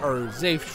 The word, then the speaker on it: Zafe: Zafes are Zafe choice, if you know what I mean. You get it? Because his name is Zafe, and it rhymes with save.